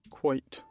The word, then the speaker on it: quoits: How do you say that? Quite. Quite. Quite. Quite. Okay, quite. Thank you, Google.